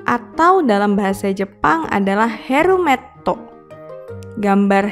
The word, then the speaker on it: herumetto: Berikutnya adalah gambar helm atau dalam bahasa Jepang adalah herumetto. Gambar herumetto mengingatkan kita pada huruf he.